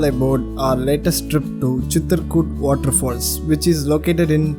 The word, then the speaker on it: Chitrakoot: CHITRAKOT, CHITRAKOT, CHITRAKOOT. Yes, all are correct, and I pronounce as CHITRAKOOT.